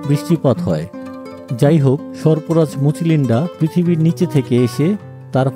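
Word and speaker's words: Mucalinda: ঢুকতেই বাম পাশে বুদ্ধের পিছনে যে বহুমাথাযুক্ত সাপ দেখছেন, এর নাম মুচিলিন্ডা। এর আরও উচ্চারণ হতে পারে, যেমন মুচালিন্ডা, মুকালিন্ডা।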